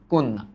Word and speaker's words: কন্যা: রূপটা কি হবে দেখো এই যে জ ফালা জফলার কারণে ন হবে দুইটা ন যোগ ন আর এই জফলার প্রভাবে এই অধ্বনি কিন্তু অ ধ্বনি রূপে উচ্চারিত হবে তাই এটার উচ্চারিত রূপ আসবে কন্যা কোন তারপরে না কোন না এমনভাবে পড়ো যাতে তোমার